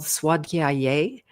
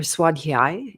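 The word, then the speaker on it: Svadhyaya: All right, so we're still on the NAMS and the next one is called Swaday and or Swadhi is a better pronunciation for the word by itself.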